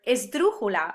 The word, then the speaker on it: esdrújula: And this is another sound the Spanish language gravitates to, these words that have the emphasis on the third to last syllable, like albóndiga or lámpara or esdrújula, a word which, I